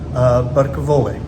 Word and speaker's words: Buttacavoli: It is located in the Grand Central complex with Chef Michael Buttacavoli.